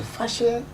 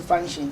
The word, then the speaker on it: fashion: So fashion fashion is a way of life. Many people say function.